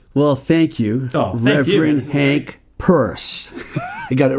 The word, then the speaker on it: Peirce: Well, thank you, Reverend Hank Peirce. I got it right there. Exactly right. It rhymes with hearse, curse, and worse.